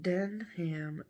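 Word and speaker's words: Denham: jeans no denim no it's d-e-n-h-a-m den ham den ham springs louisiana springs and where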